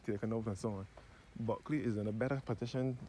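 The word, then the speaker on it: Bulkeley: Buckley in this parish is spelled B U L K E L E Y. And it is pronounced as Buckley, not Buckley.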